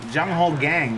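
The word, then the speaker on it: Jung Ho Kang: Jung Ho Gang. Right. That's how you pronounce his name.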